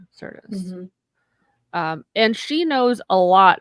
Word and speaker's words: Marina Sirtis: How do you pronounce her name? Marina Sirtis. Sirtis.